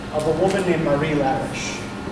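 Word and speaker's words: Larisch: The second half of this verse paragraph is entirely in the voice of a woman named Marie Lariche. Or Lariche, I think is how it's pronounced.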